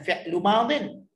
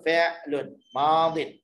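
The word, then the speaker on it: فعلٌ ماضٍ: Cara baca dia macam tu. Bukan fi'lu madin. Kita baca fi'lun madin.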